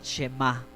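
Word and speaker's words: שמע: través del profeta Isaías, en hebreo se pronuncia el Shema.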